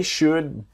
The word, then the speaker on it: should: They should be able to help you. So, they should remember the L in should is silent.